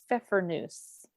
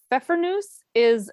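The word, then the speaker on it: Pfeffernüsse: chose, and again, this could be an interesting pronunciation. I made Pfeffernuse. Does that sound right, Heather? It sounds right to me. That's how I would say it. So Pfeffernuse it's a cookie I remember having as a kid.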